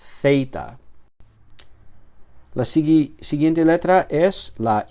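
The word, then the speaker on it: ζήτα: Zita. Y es ah el sonido en inglés sería el sonido th, ¿vale?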